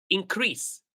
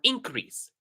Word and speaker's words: increase: So it depends on if is it a verb or a noun.